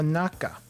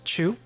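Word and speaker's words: 中: village over here now naka now we've seen this uh this naka symbol before in chugoku or yeah it was chugoku so apparently this kanji has two pronunciations chu which means middle naka is also inside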